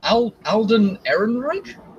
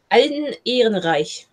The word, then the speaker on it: Ehrenreich: It's Alden Ehrenreich, I think is how you pronounce it.